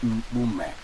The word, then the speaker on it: Mpume: My name is Mpume. Look at even how it rhymes with your own name, Mpoloma.